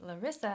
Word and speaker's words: Larissa: And my name, Larissa, has three vowel sounds. La, a, ri, I, sa, a. Larissa. Three syllables.